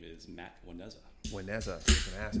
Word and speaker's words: Juaneza: Juaneza. I was going to ask how you pronounce that. Juaneza.